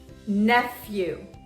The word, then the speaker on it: nephew: When the P comes before an H, the pronunciation is F. For example, phone, phone, or dolphin, dolphin, nephew, nephew.